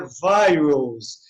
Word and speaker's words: virus: Porque essa vogal I, em inglês é I, então I am, então é virus, né?